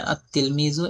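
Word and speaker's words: التلميذ: যেমন তিলমিজুনের শুরুতে আলিফ লাম আসলে আর তিলমিজু এমন পড়া হবে।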